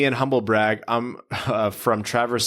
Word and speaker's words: Traverse City: I'm from Traverse City, pronounced Travers, Michigan, and so I've been lucky enough to go to a few training camps up here.